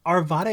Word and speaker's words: Arvada: have said Arvada like our vada is like almost acceptable but Arvada is like the more our vadas the one that people from there say well I have a